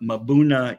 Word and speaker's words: mbuna: by some people but mabuna is the normal um normal pronunciation of those African cichlids so you know is it tomato or tomato yes so the m is pronounced you're right Alicia um